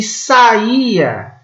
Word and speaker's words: saía: O substantivo saia tem 2 sílabas apenas. E o verbo saía tem 3 sílabas.